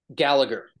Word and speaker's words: Gallagher: how do you say your last name sorry Gallagher Gallagher got it okay okay three two one